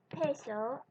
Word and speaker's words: peso: Paper, tissue paper, or your hand right in front of your mouth, and say the word peso like you're speaking English. Peso, peso, peso. Do you feel a little puff of air when you pronounce the P?